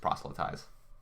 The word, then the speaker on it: proselytize: of the word prophet I don't know why you try to put that F in but it's just proselytize it's just proselytized okay